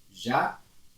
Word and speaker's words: jamais: Jamais, você vai ler jamais. Você não pronuncia o S, não é jamais.